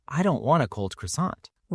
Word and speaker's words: croissant: Most Americans say croissant with a hard R and a hard T or croissant.